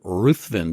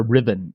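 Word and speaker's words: Ruthven: named John poori and that vampire is Lord ruthin tell us about him we could spend this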